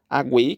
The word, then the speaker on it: aguei: letra D nós temos aguei que é um tritongo Wei u u u semivogal u vogal e semivogal yod Wei Wei Wei